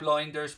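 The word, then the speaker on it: Lijnders: I'll be chatting to him tomorrow about a recent interview that he did with Pep Linders, which is the way you pronounce his surname actually, in recently for the big interview with Graham Hunter podcast.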